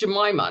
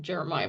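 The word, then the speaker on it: Jemimah: this ha means reverse and it's jamaa not Jeremiah but okay anyway all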